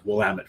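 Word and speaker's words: Willamette: get out into the Willet Valley I'm sorry wamit Valley I said it wrong well it's wamit damn it yes so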